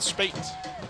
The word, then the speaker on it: Speights: the Bates rather but speaks rhymes with mrs. spate and spade has the